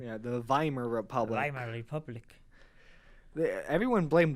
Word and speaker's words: Weimar: Vai murmur find abused pronounce as a V in German yeah the Weimar Republic Republic yeah everyone